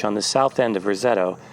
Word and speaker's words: Roseto: the south end of Rosetto pronounced Rosetta by its residents since the church sits